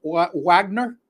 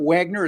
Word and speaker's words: Wagner: All right, so Orlando tonight will be playing without the services of Franz Wagner. I got to pronounce that correctly because he's German. It's not Wagner, it's Wagner.